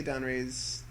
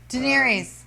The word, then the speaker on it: Daenerys: Now, how do you say Donray's the Targaryen? Khaleesi. How do you say her name? Actually, pronounce it.